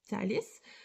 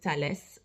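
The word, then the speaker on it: Thales: Brazil there are many talist um so you would write it that way but you would pronounce it uh in Brazil we pronounce it Talis more than in French we would pronounce it Tales um so we would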